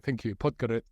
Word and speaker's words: Podgorica: I can't pronounce it. It begins with P, but Podgorica. Thank you, Podgorica.